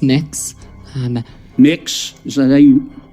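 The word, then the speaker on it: Mx: Cameron tell me what you're you're proposing it's pronounced mix um mix is how would you like me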